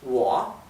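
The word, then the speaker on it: 我: Bueno, el pronombre para decir yo es wo, wo. Parece como si terminara en A, parece como si fuera wo a, ¿sí? Es que la O con el tono baja y sube es wo, parece que fuera con A al final.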